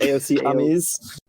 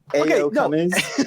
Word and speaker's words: AO Cummies: I'm at AO Cummies on Twitter. That is the correct way of pronouncing it. It's not AOC Cummies. AO Cummies.